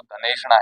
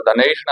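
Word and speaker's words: धनैषणा: लेकिन यहाँ पर धनेषणा है तो यहाँ ऐ की मात्रा है, ऐ का ही उच्चारण होगा।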